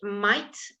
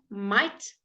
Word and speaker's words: might: an I sound again your gh might and height let's do that might and height good the gh is silent as for many other times okay then we got